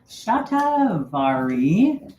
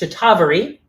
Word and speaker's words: Shatavari: Shatavari sometimes um uh pronounced chatavari. Both of them are accurate.